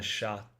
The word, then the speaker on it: chat: The sha sha means cat in French. Sha means cat in French. Like it's spelled just like chat.